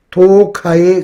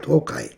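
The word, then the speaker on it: 東海: 동해바할 때 동해도 도카이 그렇게 발음하잖아요. 횟집에 이름으로 많이 쓰이죠. 도카이.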